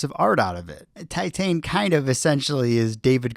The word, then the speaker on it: Titane: been much competition but titane is one of the best movies in years the correct pronunciation for it Titan pretty straightforward once you know I